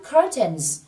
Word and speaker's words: curtains: Và trong bài được dùng dạng số nhiều, mình thêm âm SC ở đây và phát âm là Z. Thành curtains.